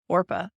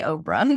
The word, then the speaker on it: Orpah: that was Ruth and Orpah. You want to say Oprah, the way it's spelled, but it's not. It's Orpah.